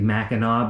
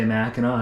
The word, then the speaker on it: Mackinac: got at mackinac island technically mackinaw but it's spelled mackinac so people who say mackinaw annoy me a lot but this is actually